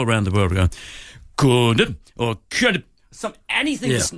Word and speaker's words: Condom: No, it is Jean Condom. Right, yeah, and everybody, and all the commentators all around the world were going, Condom, or anything to not say condom.